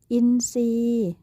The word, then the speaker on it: อินทรีย์: ว่า พุทรา ต้อง เรียน สังเกต เห็น ไหม คะ ว่า คำ ทุก คำ เนี่ย มี พยัญชนะ ทร ควบ กล้ำ อยู่ แต่ เวลา เรา อ่าน ออก เสียง อ่าน ออก เสียง เป็น เสียง ซอ ทุก คำ เลย ใช่ ไหม คะ